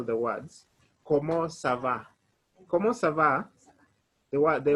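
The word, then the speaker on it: comment ça va: how are you how are you you say como sava let me spell the words como sava como sava the word the ones are c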